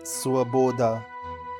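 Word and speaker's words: свобода: Svoboda Svo-bo-da Stress is on the second syllabi.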